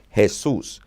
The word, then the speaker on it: Jesús: name the nickname chewy comes from the name hey-soos has who's with an accent on unto you